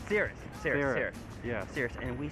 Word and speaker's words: Cirrus: come and pronounce for us. We are here doing a fursuit photo shoot for Cyprus? Cirrus.